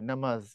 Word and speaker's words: নামাজ: আচ্ছা, তারপরে আবার কি বলছে, এই নামাজ শব্দটা ফার্সি, এটার উচ্চারণ যখন করতে হয় আরবিতে কি সালাত, আর ফার্সিতে বলা হয় নামাজ, এটা জ হয় নামাজ এরকম।